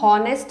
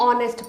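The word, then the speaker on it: honest: तो यहाँ पे एच मूक हो गया, यानी साइलेंट हो गया।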